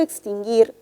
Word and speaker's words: extinguir: i y la u pero en la palabra extinguir solamente se menciona o se pronuncia la i la u no tiene sonido porque repito porque la palabra extinguir la u no se pronuncia solamente es parte de un dígrafo por lo tanto este